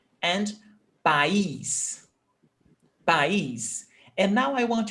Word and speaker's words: país: And it's only one syllable, país. And here, país, a vogal, e vogal, because it's a sharp sound, país. So we cannot have two sounds, duas vogais in the same syllable.